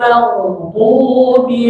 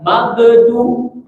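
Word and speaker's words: المغضوب: Awas jangan sampai baca magedu. Nah, jangan dipantul. Magedu bukan magedu, melbu atau melbu ya. Jadi dia mengalir rinnya itu mengalir. Melbu tidak memantul. Awas ya.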